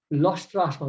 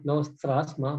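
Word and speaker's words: loṣṭāśma: So it's Sama, Lostrashma, not Lostrasma, but Lostrashma, Kanchana.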